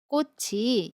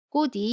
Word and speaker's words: 꽃이: This is the pronunciation of the final consonant ‘ㅊ.’ You should pronounce it as ‘ㅊ’ not [ㄷ]. For example, '꽃이 이뻐요.' (Flowers are beautiful.) How would you pronounce it? You should pronounce . is wrong.